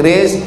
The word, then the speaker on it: QRIS: Tolong buatkan kris, QRIS, cara bacanya kris. Buatkan kris, tempel di pintu, tempel di warung kopi, tempel, di bawah kris itu tulis, sedekahlah untuk Masjid Hidayatullah.